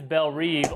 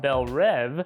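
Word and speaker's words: Belle Reve: documents confirm that this prison is Bel reev or if you're pronouncing it the correct French way Bel rev and that's the same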